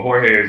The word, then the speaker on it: Jorge: I want to make sure I'm pronouncing it correctly. Yes. Hold on 1 second. Excuse me, is it George or is it Jorge? It's both, but Jorge is what it is.